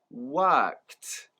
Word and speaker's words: worked: part of the word, just the kt sound, kt, kt. And when we join it together with the first sound, we have the word worked, worked.